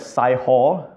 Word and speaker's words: Sihor: Now this word Sihor here, in English we pronounce it as Sihor, okay? But in Hebrew, the I is E. So sometimes we are always quite confused whether to pronounce it in the Hebrew way or the English way.